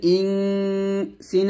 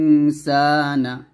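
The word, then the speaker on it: إنسان: করে দেওয়া আছে খলাকাল ইন সিন আলিফ জবর সা নুন জবর না খলাকল ইন ইনসানা খলাকাল খলাকাল ইনসানা যদি আমরা এখানে ধরি তাহলে বলবো ইনসান সাতে আমরা তিন টান দিয়ে নুনকে সাকিন করব ইনসান এরকম আবার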